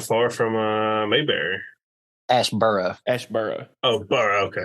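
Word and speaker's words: Asheboro: you Ash is not far from uh mayber Ash burrow Ash burrow oh burrow okay like south of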